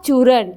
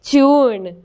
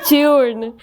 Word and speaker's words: चूर्ण: like to clarify this it's नॉट चूर इट्स चून okay it's चून चूर क्या होता है